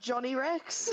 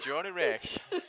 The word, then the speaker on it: Joni Rex: It would have been like Johnny Rex. Joni Rex. That's the international way of saying it.